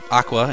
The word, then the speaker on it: AQA: head into sector 4 AQA or Aqua if you want to say it phonetically um it is a